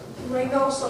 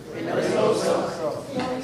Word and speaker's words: Reynoso: Reynoso. I'm going to tell you how to get decent children. Raise of the sun, know, and sow. Now, what's my name? Reynoso.